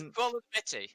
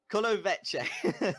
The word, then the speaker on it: Kulenovići: I can't say the other team, I just can't pronounce it. The other team. Oh, it's Kulenovići. Kulenovići.